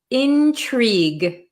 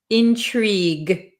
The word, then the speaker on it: intrigue: but we pronounce it intrigue intrigue we don't pronounce this U or E really Intrigue okay Intrigue so